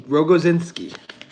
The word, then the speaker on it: Rogoinski: It's Rogo. Rogoinski.